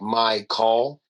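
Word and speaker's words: Mychal: And then my actual name is spelled m y c h a l. And he kind of had So, it's like my call.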